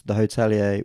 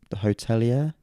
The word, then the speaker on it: The Hotelier: The Hotelier? Hotelier? I'd just say The Hotelier. Hotelier. Hotelier. Just say it quick and then...